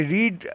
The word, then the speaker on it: read: Friends, এখানে রিড লেখা আছে READ, কিন্তু উচ্চারণ হবে রেড, এটা পাস্টে আছে।